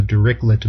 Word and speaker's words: Dirichlet: The first type is the Dirichlet boundary condition, also called the Dirichlet boundary condition. I tend to go with the French pronunciation.